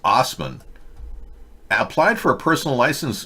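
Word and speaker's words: Assman: of his truck when ass man pronounced osman applied for a personal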